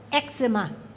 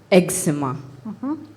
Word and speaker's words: eczema: metonymy excellent hello speller 76 please spell eczema eczema also pronounced eczema eczema please can i have the